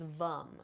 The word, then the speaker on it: vam: with the Sao chakra which is vum so spelled vam but we're going to we're going to pronounce it vum V okay so